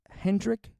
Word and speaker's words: Hendrik: 1905 that's led by a man named chief hendrik wi buy which is funny because the name Hendrick is spelled Hendrick as in like the Swedish name